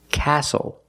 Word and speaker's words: castle: We also see the silent T when you have the spelling pattern S-T-L-E. Like these words, whistle, castle, and hustle.